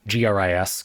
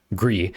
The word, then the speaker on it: Gris: G R I S Gris. Gree is one of my I think it's pronounced that way is one of my personal favorite games of all time.